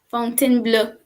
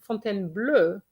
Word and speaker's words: Fontainebleau: word is there because the person kept saying fontaine blue but why do you say blue can you explain this to me thinking of the color blue yes but the color